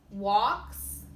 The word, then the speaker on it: walks: well so and he walks with me and he talks with me and he tells me I am his own there should be two silent l words that you find in those sentences there are more examples